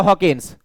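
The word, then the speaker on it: Hopkins: vitamins की vitamin के खोजकर्ता कौन है तो हॉकिंस ठीक है और यहां पर पी साइलेंट है विटामिन शब्द या नामकरण किसने दिया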